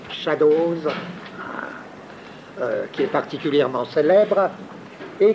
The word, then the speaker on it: Shadows: Lui aussi, ça part par un certain nombre de films, dont le plus célèbre est Shadows, c'est comme ça que ça se prononce, Shadows, qui est particulièrement célèbre, et qui prétend être quoi?